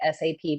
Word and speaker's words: SAP: with us about what SAP does? Absolutely. So I always say the S in SAP doesn't stand for sexy. It is pronounced SAP, not SAP.